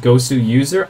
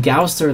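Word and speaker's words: gosuser: name of g-o-s-w-s-e-r and his name is pronounced gosu user I didn't know that I've been calling him gausser this whole time foreign I do apologize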